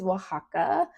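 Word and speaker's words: Oaxaca: So next one is Wajaka. I love Wajaka. So that's how you pronounce that if you've ever seen it and was confused.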